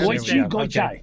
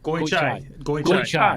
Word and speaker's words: Goichai: And I nailed that pronunciation, didn't I? Well, it came close, but it's good. Came close. Goichai. Goichai.